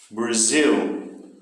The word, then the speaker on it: Brazil: Brazil. Justamente o final da palavra. Zil.